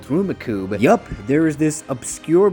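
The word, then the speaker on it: Rummikub: a board game called rumikub yup there is this obscure board game that is almost pronounced like Rubik's Cube but it's actually pronounced rumikub so Marvin then goes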